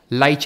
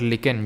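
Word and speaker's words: lichen: और मर्सिया ठीक है लाइच होगा इसका सही उत्तर लाइच क्या होता है लाइच जो होता है ना लाइच या फिर लिकन जो भी आप इसको प्रोनाउंस करो ये एल्गे यानी शैवाल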